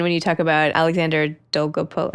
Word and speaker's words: Dolgopolov: And even when you talk about Alexander Dolgopolov, how do I pronounce that?